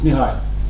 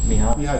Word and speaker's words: Mihaly: It's Mihaly Csikszentmihalyi. Not bad. Yeah. It's Mihai. Mihai Csikszentmihalyi. Csikszentmihalyi.